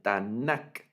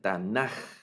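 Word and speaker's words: תנך: Algunos pronuncian Tanakh con K y otros pronuncian Tanaj con J.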